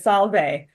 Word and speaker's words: salve: I was like, oh, she said salve. That she used the V. She's using ecclesiastical.